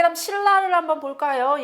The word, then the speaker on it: 신라: 자, 그 다음 신라를 한번 볼까요? 얘는 지금 니은하고 리을하고 만나서 니은이 리을로 바뀌어서 발음이 됐죠?